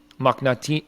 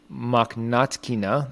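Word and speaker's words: Mokhnatkina: up against uh marina makhnati i'm saying her name wrong makhnatkina that's a mouthful of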